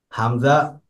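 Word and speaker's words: همزة: হা হামজা, এটাও কণ্ঠনালীর শুরু থেকে।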